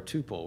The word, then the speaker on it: tuple: actually contained in something it's in a tupple or Tuple whichever way you pronounce it uh so I have